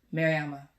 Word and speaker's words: Mariama: Let me not get her name wrong. Mariama.